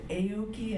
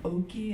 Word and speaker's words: Aoki: that are in, but they changed the way of pronouncing it to Aoki, and some changed the pronunciation to Oki, and I felt like, what are they, embarrassed and ashamed?